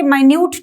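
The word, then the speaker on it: minute: मतलब बहुत छोटा प्र माइन्यूट स्पेलिंग मिनट वाले मिनट स्पेलिंग प की है की हर गल कटेल देखना है राइट एडजेक्टिव मान्य लाक दिस री माइन्यूट टॉपिक मिनस्क्यूल मिनस्क्यूल का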